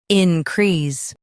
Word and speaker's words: increase: in crease increase Stress crease and keep in soft.